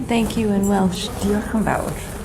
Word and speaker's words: Diolch yn fawr: Diolch yn fawr. Diolch yn fawr.